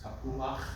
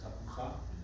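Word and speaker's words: תפוח: So, we have inverted chet patach rule, tapuach rather than tapucha.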